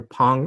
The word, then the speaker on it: Pang: And so for some of you probably may know me as Dr. Pong, which is the way you would pronounce my name in Hmong. Others of you would know me as Pang, and then others as Pong.